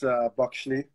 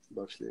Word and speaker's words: Bakhisli: Yeah, it's Bakshli. Bakshli? Bakshli, yeah.